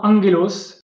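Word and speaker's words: ἄγγελος: Devant ces 4 lettres, en fait, le gamma se prononce N. Donc comme dans angelos, en fait, en grec,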